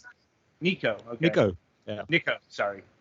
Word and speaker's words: Nicou: How do you pronounce that? Nicou.